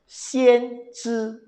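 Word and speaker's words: 先知: Bacanya sangat menarik. Xian Zhi Bagi yang mengerti bahasa Mandarin, kata Xian Zhi ini sangat menarik.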